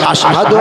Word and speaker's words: আশহাদু: পারে এনারা বুঝতে পারবেন সি আর শিরক সিন শিন দুটো অক্ষর পাশাপাশি আছে কিন্তু আজাদানে যেটা উচ্চারণ হবে আজানের যেটা বলতে হয় কি বলতে হয় আশহাদু আন্না মুহাম্মাদুর রাসুলুল্লাহ আশ আশ এই শিনটা উচ্চারণ হবে কথা বুঝতে পেরেছেন না জি মুয়াজ্জিন যারা হবে তারা শিন উচ্চারণ করবেন আর যারা আপনারা কিনা